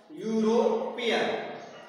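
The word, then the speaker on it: European: Next देखें, ये है, देखें, he was यूरोपियन, इसका साउंड क्या निकाला है, यूरोपियन। यूरोपियन में यह आ रहा है, यूरोपियन, यूरोपियन। यूरोपियन में देखिए यू, यह आ रहा है, यह क्या है आपका, कॉन्सोनेंट है, इसलिए ए।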